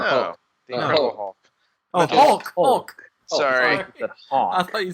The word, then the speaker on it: Hulk: Oh, Hulk. Sorry. I thought you said Hawk. I say that a lot. I don't pronounce Hulk correctly. Hulk. Just say it like that.